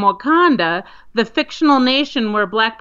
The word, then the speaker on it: Wauconda: It's spelled Wauconda, Wakanda, Illinois. But like I said, they're receiving a lot of attention because it's pronounced very similar to Wakanda.